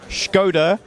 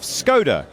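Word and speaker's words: Škoda: whether I go with the traditional pronunciation of Schkoda or the English pronunciation of Skoda.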